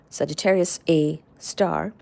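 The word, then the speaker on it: Sagittarius A*: and behold that is how we we discovered Sagittarius A star which is literally that's how it's pronounced Sagittarius A star and the Le reading hypothesis so even though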